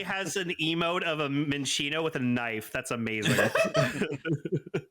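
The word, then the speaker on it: Minccino: love Minchino. It's so cute. Oh, is that how you pronounce it? Yeah, Minchino.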